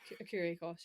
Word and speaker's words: Écurie Écosse: Écurie Écosse, yeah.